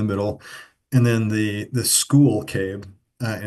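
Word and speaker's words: Skhul: and then the the school cave and it's spelled SK hu l so it's a little confusing I'm I'm going to try to say school whenever I'm referring to the fossils from this cave and it talks about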